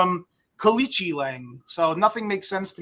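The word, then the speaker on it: Aoriqileng: This on the surface, if you look at Kalichi Lang, that's how they say his name, he's 0-2 in the UFC.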